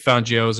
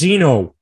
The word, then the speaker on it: Fangio: Broncos, Vic Fangio's out. Fangio, however you want to say it. Dolphins. Fangino. That's not how it's said.